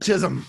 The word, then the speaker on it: Chisholm: Chisholm. Yes. Oh my God. Oh my God. I got the shh.